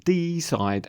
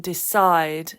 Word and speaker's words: decide: about the mispronounced words where the stress was in the wrong end of the word like Hotel like hotel and deside and report but it's Hotel and decide and Report yes and you wondered